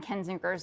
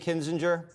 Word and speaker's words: Kinzinger: you bring Liz Cheney out there, the Adam Kinzinger's of the world. Oh, God. Is he going to cry? Is he going to cry if she doesn't win? If she's depending on Cheney and Kinzinger, I think this thing's, what's his name?